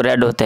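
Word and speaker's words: read: यह रीड की second form है ना उसको रेड। यह लिखते वैसे ही हैं लेकिन पढ़ने से वह रेड होता है।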